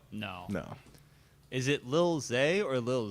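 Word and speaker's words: Zé: I think it's pronounced... Z. I don't know Portuguese, Z. but Zay. It's like Zay. It wouldn't be Z.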